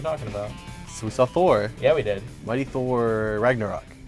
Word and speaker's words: Thor: Yeah, because the name Thor has two sounds that the Japanese phonetic alphabet really has a hard time making. You don't have the theta, the TH sound, and hard R.